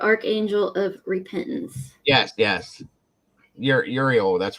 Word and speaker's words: Uriel: Uriel.